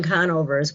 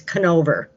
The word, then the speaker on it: Conover: uh conover it's newton conovers where we live here in north carolina and she pronounces conover as canover oh it's like really